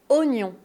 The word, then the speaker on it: oignon: ce mot, c'est que tu vois le O et le i. Donc tu as envie de prononcer. C'est normal, on peut pas t'en vouloir. Mais c'est pas oignon, il faut oublier le I. Oignon.